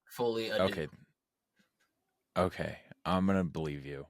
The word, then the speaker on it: Folie à Deux: it's Folie Adieu.